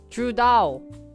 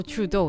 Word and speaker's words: Trudeau: pronounce his name let me look up his pronunciation I hate French names they're too hard trud Trudeau oh Trudeau sorry Trudeau wrote I just had a good